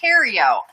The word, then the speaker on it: Terio: Luann's last name is pronounced Terio. Thank you, Luann. I had no idea. I thought I was pronouncing it right. It's French.